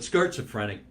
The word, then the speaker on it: Skirtzophrenic: for a company called Skirts Afrenic. Skirts Afrenic, and I'll even spell it for you because I have a hard time saying it, but not schizophrenic, but Skirtzophrenic.